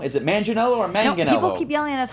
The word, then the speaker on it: Manganiello: now we're gonna say it wrong is it Manganiello or Megan okie purely honest heart G hard G like Manganiello sailor said mention ello let me 2nite you